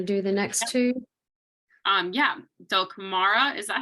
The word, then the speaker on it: Dulcamara: Yeah, Dulcamara, is that how you pronounce that?